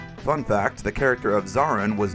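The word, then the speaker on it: Zorran: Fun fact, the character of Zarin was named so because it rhymes with Moran.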